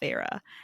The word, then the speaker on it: Feyre: and it's spelled Feyre, and I only know it was Feyre because I listened to this on audiobook when I read it for the first time.